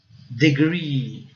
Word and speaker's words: degree: Degree. O R, gente, tem como se fosse um U imaginário, né? Degree. Né?